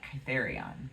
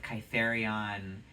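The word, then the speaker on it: Kithairon: And he was abandoned on the mountain, I want to say Kytherion, because that's how I like to pronounce it. He was abandoned on the rocky cliffs of Kytherion, and he died.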